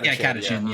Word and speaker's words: Catachan: Yeah, Catachan, yeah.